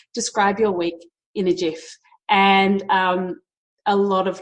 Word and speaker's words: GIF: off which is pronounced GIF but I still say GIF with a hard G and it drives my